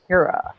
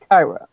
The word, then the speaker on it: Kira: that says her name it's Kira not Tyra oh yeah you do